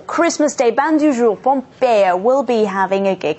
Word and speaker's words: Pompeya: You want it to be pronounced as Pompeya, yes.